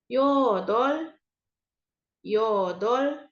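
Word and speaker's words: 여덟: tujuh ilgop ilgop delapan yodol yodol jadi walaupun di sini ada huruf r dan b kita bacanya Yang r-nya ya yodol yodol 9 ahop ahop terakhir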